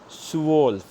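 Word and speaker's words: zwölf: Everything together is pronounced as Swolf.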